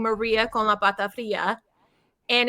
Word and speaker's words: Pata Fria: So I say it Pata Fria Okay. to make it easy for people. It's of course Pata Fria, but I'm not Yeah.